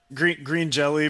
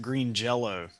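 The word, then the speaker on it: Green Jellö: Green jelly, because apparently with the those lame ass like Scandinavian dots over the Y, you're supposed to pronounce it green jello.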